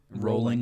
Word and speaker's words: Rowling: Rolling It like is bowling. Rowling, right? I think it's rolling like bowling.